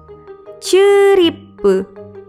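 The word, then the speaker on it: チューリップ: Ditulis dengan huruf katakana jadi chi, yu kecil, strip, ri, pu, ceripu.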